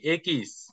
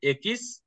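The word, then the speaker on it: equis: অ হুম ওকে তারপর এটা হচ্ছে কি একিস একিস এবং এটা উচ্চারণ হবে এক্স এর মত এক্স এর মত হ্যাঁ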